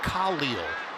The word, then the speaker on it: Khalil: And I should mention, on the pronunciation of, I asked him once, what do you prefer, Khalil or Khalil, which is what I've heard him say. He goes, oh, no, my name is Khalil, so I'm going to respect the man.